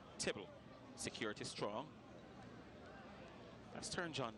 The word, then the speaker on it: Tibble: been talking about Denzel Tibble. His name is optional in terms of its pronunciation because it can be pronounced as Theobald as well. But the British pronounce it as Tibble.